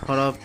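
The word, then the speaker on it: ح: এরপরে হলো হা, উচ্চারণটা একটু কঠিন হবে, হা, হা। এরপরে হলো খ, খ।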